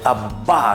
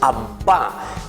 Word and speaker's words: Abba: Qué lindo esa palabrita ahí, Abba se dice en hebreo, queridos niños. Vamos a decir un poco conmigo cómo se dice Abba, que quiere decir papito.